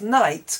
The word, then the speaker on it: night: Strangely, many of my students pronounce night correctly, N-I-G-H-T, but as soon as we take off the T, they pronounce it haig.